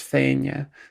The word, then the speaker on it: Fianna: In Scots Gaelic, it's pronounced Fianna.